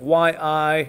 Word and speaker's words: Yi: 38 movements is named after the great philosopher and scholar Yi it's spelled Y-I space capital I, but it's pronounced E like in double E.